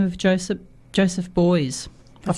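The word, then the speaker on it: Beuys: An artist by the name of Joseph Boys. I've pronounced that correctly?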